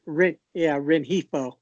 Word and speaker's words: Rengifo: Rengifo.